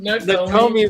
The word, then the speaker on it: Nakomi: Nakomi rhymes with all kinds of Italian food. Exactly. And pony.